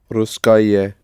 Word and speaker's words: русское: Русское, if you pronounce it syllable by syllable, but o is not pronounced as o, but close to r. So, Русское radio.